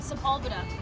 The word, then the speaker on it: Sepulveda: Sepulveda. over there. That's how you pronounce it.